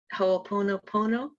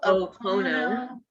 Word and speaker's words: Ho'oponopono: Ho'oponopono. Ho, Ho'opono. Ho'opono, Pono.